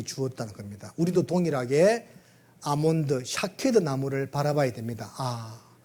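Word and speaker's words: שָׁקֵד: 근데 왜 이제 아몬드 나무가 중요하냐면 아몬드 나무를 히브리 말로 샤케드. 히브리 말로 아몬드를 좀 발음이 어렵죠. 샤케드라고 이렇게 샤케트 뭐 터나 더나 뭐 샤케드인데 요 의미가 뭐냐면 흔들어 깨운다 그런 이런 뜻입니다.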